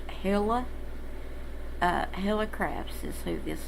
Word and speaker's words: Helle: uh anyway um if her name is apparently pronounced hilla uh helicrafts is who this is about um